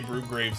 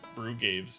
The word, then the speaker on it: Brugaves: Dude, I want to say Brugraves every time, but there's no R in his name. Yeah. I literally have to struggle to say Brugaves instead of Brugraves.